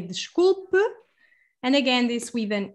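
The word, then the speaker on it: desculpe: this is the one i was just saying the scoop so means i'm sorry if you want to just say sorry to someone you can say the scoop and again this with an e at the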